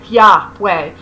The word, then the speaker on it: Yahweh: Israelite traditions identified Yahweh by scholarly convention pronounced Yahweh, the God of Israel, with the creator of the world, who had been known and worshipped from the beginning of time.